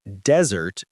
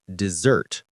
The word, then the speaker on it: dessert: Now many people say desert instead of dessert. Yes. Desert is a hot dry place with sand. And dessert is cake.